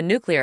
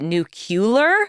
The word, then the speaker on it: nuclear: So, how does to get to the to the nuclear of it all, which by the way, I